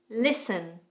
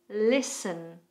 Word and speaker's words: Listen: Listen. Listen.